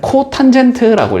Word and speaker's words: 코탄젠트: 그래서 얘는 시컨트라고 읽어준다. 됐지? 얘도 원래 뭐였겠어? COTAN이었을 것 같잖아? 얘는 코탄젠트라고 읽어준다.